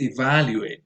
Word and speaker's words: evaluate: Um, the other word is evaluate. The stress goes on the second syllable.